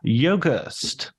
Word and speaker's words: Yogerst: I'm a writer and film critic and today I'm going to be talking to Chris Yogast. How did I do? Did I nail the pronunciation?